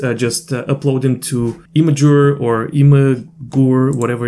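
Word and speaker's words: Imgur: just upload them to imager or email guru whatever it's called i'm going to google it now actually oh supposedly it's pronounced imager okay so yeah i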